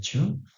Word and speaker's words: 十: Oke, berikutnya ini adalah cara membacanya onyomi, yaitu cara baca aksara Cina, ada ju sama jutsu. Nah, ini adalah sub kecil untuk membuat huruf kode ataupun huruf ganda. Berikutnya ada cara baca kunyomi. Ini cara baca kunyomi Jepang, asli Jepang itu cara bacanya to.